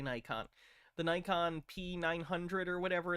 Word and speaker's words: Nikon: The camera he's talking about, the Nikon, sorry, I know some people pronounce it Nikon, I say Nikon.